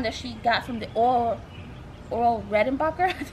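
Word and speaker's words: Orville Redenbacher: This is really cool because a friend of mine took some popcorn that she got from the Oral Redenbacher. That's how you pronounce it.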